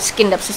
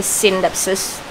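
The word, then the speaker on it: Scindapsus: baru aja dikasih tahu kalau bacanya bukan skindapsus tapi sindapsus Eh sapsus ini tanaman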